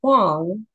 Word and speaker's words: Hwang: to simplify things because even our last name is pronounced Wong but everyone says way yeah totally that's what